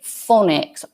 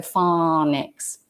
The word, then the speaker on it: phonics: That's F-A-W-N-I-X. And James, I would suspect that that might be an American pronunciation of phonics. Would I be right? Because with British pronunciation, we would say phonics, O, and the AW doesn't usually represent the O sound. It's O, so phonics.